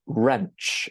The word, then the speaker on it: wrench: The Americans would call it a wrench, and the W is silent.